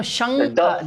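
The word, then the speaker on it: शङ्ख: Shankha, that is ng. Ka, kha, ga, ga, ng. That is the fifth letter of ka varga. Shankha. Okay. It is not da, it is ng.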